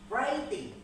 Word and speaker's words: writing: Jika ada huruf sebelum R maka dihilangkan pada saat membacanya. Jadi saat menemukan huruf ini cara membacanya hanya cukup ready.